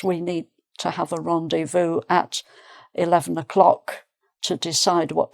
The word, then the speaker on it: rendezvous: Uh rendevu. That's quite French sounding. Rendevu is the same pronunciation in French.